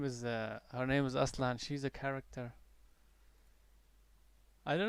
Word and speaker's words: Aslan: Yeah, I call her Aslan because Aslan is I pronounce it Aslan because it just means sorry, lion.